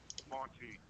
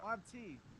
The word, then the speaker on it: Monte: Yeah, How do you pronounce it? Monte. Yeah, Monte. yeah, like Monty Hall, Monty Python.